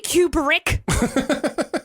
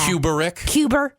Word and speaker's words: Kubrick: Come at me, Kubrick. I'm ready. I love how you make his name 3 syllables. Yeah. Kubrick.